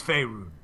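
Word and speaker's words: Faerûn: Well, I'll tell you that in a second, but it is Faerun.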